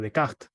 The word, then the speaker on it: Descartes: ciencia y efectivamente Arturo es Descartes no o de Cat como también cómo se pronunciaría en su idioma no y Descartes o